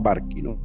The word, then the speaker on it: Barcino: que no nos escribe porque no que se pronuncia los barquín y porque se llama barquín o que simplemente